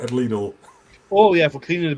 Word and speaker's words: Lidl: or Lidl. Is Well, it? it's German, you, actually. You pronounce the I, yeah.